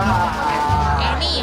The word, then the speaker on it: Eni: บูท แรก นี่ คือ อ่าน ว่า อะไร อ่าน ว่า เอนี่ ค่ะ พี่ eni เอนี่ ใช่ เอ นี่ น้ำ มัน เคลื่อน คุณ